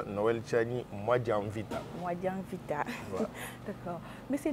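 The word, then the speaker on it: Noël Tshiani Muadiamvita: Et mon nom se prononce Noël Tchani Mwanavita.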